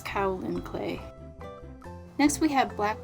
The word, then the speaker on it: kaolin: I was saying kaolin clay, and she said it's a Chinese word and that the K-A-O is pronounced like cow in cacao, and the last part is pronounced lin, so it's kaolin clay.